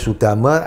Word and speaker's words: Sudamek: Sudamek itu bahasa Pali, Su dengan Dhamma sebetulnya, tapi dibacanya Sudama, ada tambahan huruf K, Sudamek gitu ya.